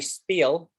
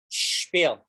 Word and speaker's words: spiel: to learn to say you have to get a pronunciation right shh use sibilance don't say spiel spiel you say spiel shpeel everyone's have a go with that give it a try excellent eat it this